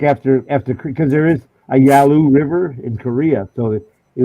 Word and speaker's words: Yalu: That was a big joke after because there is a Yalu River in Korea, so it was the Yalu River by I.P. Daily. Oh, And the guys would mispronounce it Yellow River all of a sudden instead of I've heard you Yalu River.